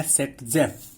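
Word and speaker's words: Zaitsev: सो देखिए सेट-जेफ दिया था रशियन केमिस्ट थे अलेक्जेंडर जेटसेव जिनका नाम था, इस नाम का प्रोनाउंसिएशन है सेट-जेफ।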